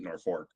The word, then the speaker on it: Norfolk: and played in um Norfolk, Nebraska, which for some reason they pronounce it Nork.